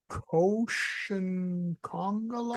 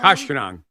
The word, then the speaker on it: Koshkonong: Then north from Janesville to Lake Koshinkongalon? Koshkonong. Koshkonong? Yes.